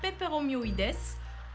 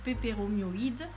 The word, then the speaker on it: peperomioides: plus exactement du pilea peperomioides ou peperomioïde. Ça dépend si on prononce le S à la fin ou pas. Nous dans le sud on le prononce.